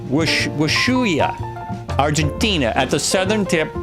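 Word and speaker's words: Ushuaia: Prudo Bay, Alaska, United States in the northernmost part of North America to um it's actually Wahooi. Not Wahooi. That's not right. It's a W sound at the beginning. Wua. Wuya.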